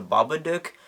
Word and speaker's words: Babadook: get rid of the Baba duck and yes this is an Australian film so the proper way to pronounce it is the Baba dick but I mean as